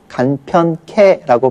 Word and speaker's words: 간편케: 예를 들어서 간편하게는 우리가 줄여서 간편케라고 발음을 합니다. 이때는 하가 완전히 줄은 것이 아니라 하에서 아만 줄은 거죠. 그러니까 간편개의 개가 캐로 발음이 되는 거예요. 그래서 간편케가 되는 거고요.